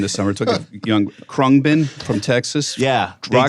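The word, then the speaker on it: Khruangbin: pronounce the name of the band? Krungbin.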